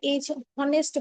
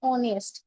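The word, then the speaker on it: honest: এখানে অ্যান হবে, কেন অ্যান হবে, এই যে এইচটাকে আমরা উচ্চারণ করছি, এই এইচটা যখন উচ্চারণের ক্ষেত্র আসছে তখন কিন্তু আমরা এইচ অনেস্ট বলি না, আমরা বলি অনেস্ট, ও উচ্চারণ করি।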